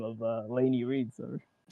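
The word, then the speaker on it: Lainy: That's how it's pronounced Laney, right?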